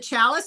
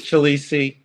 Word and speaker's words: Chalice: in a little bit what is it chalice or chalisi it's chalisi it's definitely chalisi um and chalice is how it's spelled so yeah yeah right